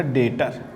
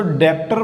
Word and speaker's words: debtor: आओ बच्चों हम डेटर पढ़ते हैं। DEBTOR। ऐसे तो डेप्टर बोलते हैं इसको, लेकिन इसमें बी साइलेंट होता है।